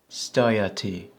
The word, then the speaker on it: stajati: When you see this combination, A and J, it's pronounced I. Stajati, to stand, to stop.